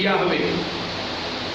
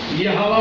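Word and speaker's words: Yahweh: है वो लफ्ज़ है याहवे, जिसको हम यहोवा भी पढ़ते हैं। एक्चुअल लफ्ज़ याहवे या यहोवा, याहवे इसकी प्रोनाउंसिएशन की जाती है।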